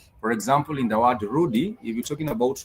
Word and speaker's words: rudi: It only has two syllables. The rudy sorry has two syllables. the R and the D. So the R has a syllable O and the D has a syllable E.